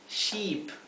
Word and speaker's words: sheep: Oveja es sheep, una i larga. Barco es ship, una i bien cortita.